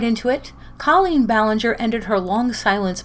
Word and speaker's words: Colleen: But when Americans say Colleen, to me it sounds like an anal cleanse.